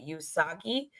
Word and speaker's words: Usagi: sailor Moon's name earlier it was actually uh usagi so I actually pronounced that wrong because I I knew I